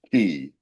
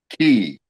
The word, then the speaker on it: ki: feeling just in in Chinese terms it's it's known as chi and in Japanese it's key in Japanese it's key cha like in raiki okay uh